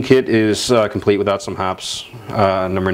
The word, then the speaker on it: Hoppe's: But hops, or as I think they want it pronounced, Hopis, but I've never heard it called Hopis in my life. Tell you what, I'm going to keep saying it. Like, I'm going to keep saying hops.